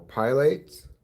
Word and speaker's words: Pilates: You mean exercise like aerobics or pilates? I know it's pronounced Pilates.